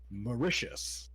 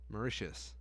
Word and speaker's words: Mauritius: how to say the other one now congratulations mauricious mauritius is a country in east africa coastal had